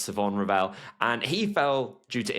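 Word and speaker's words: Shavon Revel: I know it looks like it should be pronounced Siobhan Rall, but I have it on pretty decent authority that it's Savon Rell.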